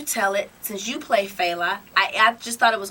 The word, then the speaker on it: Fela: Okay, because I've heard people say Fela, and all types of stuff, so I figured we go straight to the source. It is Fela.